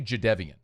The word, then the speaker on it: Jadeveon: J- Forever Jadeveon Clowney was Jadeveon Clowney till he corrected it was like, "It's actually Jadeveon."